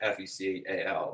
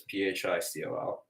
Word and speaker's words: Phicol: Abimelech went to him from Gerar with Ahuzzahoth, his advisor, and the Fickle, I want to pronounce it like Fecal, but it's Phicol, the commander of his army.